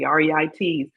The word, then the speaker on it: REITs: I pronounce it correctly, REITs, and the book I read.